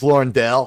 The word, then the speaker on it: Daigle: I don't think you pronounced the G. I think it's Lauren Dale.